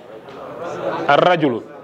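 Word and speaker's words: الرَّجُلُ: Ar-rajulu. Don't say rajulun, you say ar-rajulu because the man.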